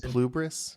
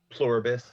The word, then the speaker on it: Pluribus: it's just there are some well like plubris. Is that how you say it? Plubrius. Pluribus.